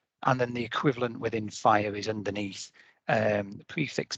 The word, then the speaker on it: FHIR: the information model and then the equivalent within fire is underneath um the prefix by fhir but it's pronounced by fire um which is actually red